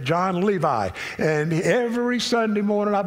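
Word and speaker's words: Jon Levi: That's the way he pronounces it, John Levi.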